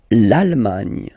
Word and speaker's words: Allemagne: L'Allemagne. L'Allemagne. Nya, nya, nya, nya. Remember this G, N, E, it can be quite tricky at the beginning to produce, I mean, the sound, ny, okay?